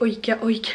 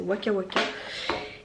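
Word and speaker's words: Wakawaka: Au début je disais Oika Oika, mais en fait non c'est Waka Waka.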